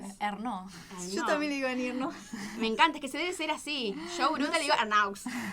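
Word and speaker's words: Ernaux: otro día los de ustedes cuando hablaban de Arnaux, que me encanta cómo lo pronuncias. Vos lo pronuncias bien. ¿Cómo se llama? Ay, no sé si se pronuncia bien. Arnaud.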